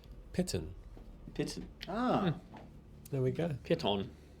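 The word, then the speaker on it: Peighton: Google says Pitten.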